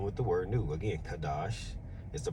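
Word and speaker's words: חדש: The word new is Strong's 82319, and it's pronounced Kadash, all right? A Kadash, all right?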